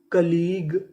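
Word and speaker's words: colleague: क्या बनी catalogue catalogue सी O double L ई ए इसे पढ़ेंगे कली जी यू ई ग तो पूरी मीनिंग कलीग कलीग कलीग का मतलब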